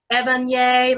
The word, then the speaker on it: Evanye: We have to pronounce her name correct. Evanye Lawson.